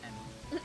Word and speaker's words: Amy: Well, the thing is in Japanese Amy's name is pronounced Emmy.